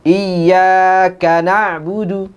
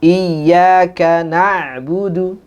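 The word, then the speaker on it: إِيَّاكَ نَعْبُدُ: na'budu wa iyyaka nabudu jadi yang ditekan itu bukan di khasnya biasanya orang iya karena Budu harusnya iyakanabudu yang dibedakan di nabudu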